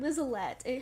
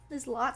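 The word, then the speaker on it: Liselotte: I was saying Lizalette. Her name is Lizlot, something like that.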